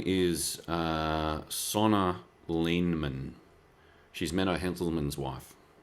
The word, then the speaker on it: Sanne: Her name is Sonna Lehman. She's Menno Henselman's wife. Sonna Lehman, and Sonna is spelt Sanne.